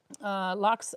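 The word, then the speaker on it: laks: L-A-K-S is how you spell lox, which is salmon, but it's pronounced just the same as L-O-X.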